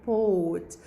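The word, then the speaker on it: bought: لما بدي أحولها للباست بتصير بوت. ولاحظوا هون يا مس الجي والاتش اجت ايش؟ اجت سايلنت، تكتب ولا تلفظ.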